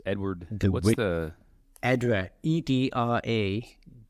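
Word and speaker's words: Edradour: is which is lovely but how do you spell it's Edward what's the edra e d r a d o u r edra okay one word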